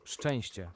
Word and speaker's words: Szczęście: makes one sound, CZ makes one sound, it's sh and ch. You don't say like zzz, because that would be like, you know, Crying out loud. insane. It's only 2 syllables. Szczęście.